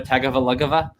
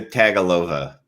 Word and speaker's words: Tagovailoa: Tua Tagovailoa?